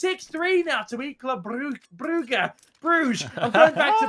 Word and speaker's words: Brugge: Now in some parts of the country they say Brugge. So yeah, they some places also pronounce it like that, but I say Brugge.